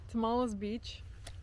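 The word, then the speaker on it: Tomales Beach: Tamales Beach.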